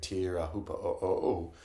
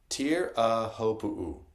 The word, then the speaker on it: Teahupo'o: him, I think it's Teahupo'o, I think, or Teahupo'o or something, whatever it is. It starts with tear, though. Apparently you say tear at the start, which is so ludicrous.